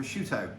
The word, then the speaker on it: prosciutto: So we'll be able to start the prosciutto ham, because that's how it's pronounced.